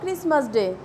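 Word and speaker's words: Xmas: এক্স মাস ডে আমরা লেখার সময় এভাবে বানান করে লিখব, কিন্তু যখন আমরা উচ্চারণ করব তখন বলবো ক্রিসমাস ডে।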